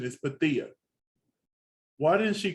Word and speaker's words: Pythia: of people mispronounce her name and they say Pythia, but the actual pronunciation is Pathia. Why didn't she correct nobody in the room? I would have. I'd be like, it's Pathia.